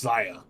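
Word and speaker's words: Xia: I Okay, think so it's not like Shia Lee, it's Zaya.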